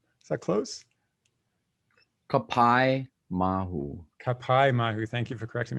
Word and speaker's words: Kapaemahu: So yeah, we're talking about the film that just came out this month called, I hope I don't mispronounce this, but Kapaemahu. Is that close? Kapaemahu.